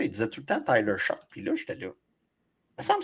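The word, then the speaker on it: Tyler Shough: Depuis le début, je l'appelais Tyler Shoot. Mais apparemment que c'est Tyler Shock. Ah ouais, même si ça finit par GH puis prononce comme j'écoute des podcast en anglais.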